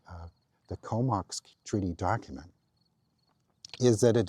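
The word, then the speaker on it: K'ómoks: It's spelled differently but it's Komox.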